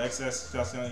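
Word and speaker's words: XXXTentacion: I call him Triple X. Not when I say his name. Oh, XS Tentacion.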